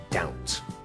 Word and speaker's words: doubt: silent letter of course is the B it's not da it's doubt word two is muscle